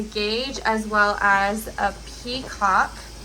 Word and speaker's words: petcock: This one has a gauge as well as a peacock. It's spelled P-E-T-C-O-C-K, like petcock, but it's actually pronounced peacock.